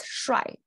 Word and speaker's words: 摔: But eventually, it pronounces shuai.